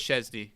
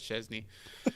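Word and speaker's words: Szczęsny: Why did you have He to say it like Shenzna. that, man? Yeah. Szczesny. How do you pronounce that Because guy's name?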